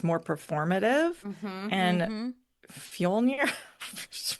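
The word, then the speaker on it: Fjölnir: And Fjolnir, how do you say it? No, Fjolnir, that was right. That sounded right. Fjolnir, he yeah, knows that's right.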